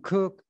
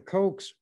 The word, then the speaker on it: Koch: semis with the word coke written on it k-o-c-h that's how they spell it some people pronounce it who's who has that as a name coke some cook others koch but the cokes pronounce it coke this article was written or